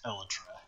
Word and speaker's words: elytra: It is pronounced elytra. Tyler, log.zip, is the only one I've heard do it correctly.